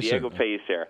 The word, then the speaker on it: Diego Pellicer: Jam it's Jam sh and the company is Diego peser am I pronouncing that correctly uh P piser that's correct Diego piser Alan thank you so much it's been a